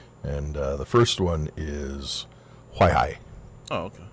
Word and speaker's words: Huaihai: And the first one is Huaihai. Oh, okay. Huaihai.